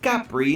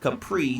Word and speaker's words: Capri: Listen, I'm mature enough to admit when I'm wrong, but the Italian pronunciation is technically Capri, not Capri, so name pronunciation.